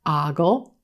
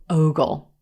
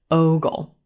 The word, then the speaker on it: ogle: will look at this word and want to pronounce it Olive sock Ogle Ogle but it's actually Rose Boat o Ogle Ogle and this means to look at someone with